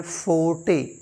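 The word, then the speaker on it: forte: ओ आर टी ई इसको हम पढ़ते हैं फोटे फोटे फोटे का मतलब होता है वंस ओन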